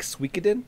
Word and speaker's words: Suikoden: The JRPG turn-based combat looks a little like Suikoden PS1 era. Sorry, how did you pronounce that?